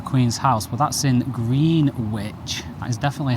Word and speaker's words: Greenwich: We were going to go to the tulip stairs at the Queen's House, but that's in Greenwich. That is definitely how it's pronounced, by the way.